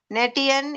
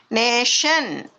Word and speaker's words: nation: நேட்டியன், ஆக்டியன், பேட்டியன்ட். No, this is நேஷன், ஆக்ஷன், பேஷண்ட்.